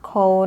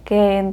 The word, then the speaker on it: Koehn: gini Banyaknya tuh keren beberapa beberapa sebut count ada yang Ken Tapi waktu aku dengerin persidangannya persidangan untuk kasus ini orang-orang dengan nama belakang kawan sebut nama mereka sebagai khawan jadi aku bakalan ikut